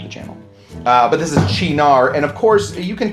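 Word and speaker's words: Cynar: This is pronounced chinar. Chinar. Not sayonara, not kaineer. It's none of those. That last one was not even close.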